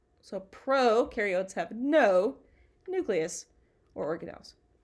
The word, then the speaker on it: prokaryotes: can remember this because pro rhymes with no so prokaryotes have no nucleus or